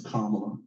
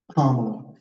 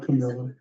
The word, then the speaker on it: Kamala: All right, this is called Her Name is Kamala. Say it with me. Kamala. Everybody, Kamala. One more time. Kamala. Not Camilla.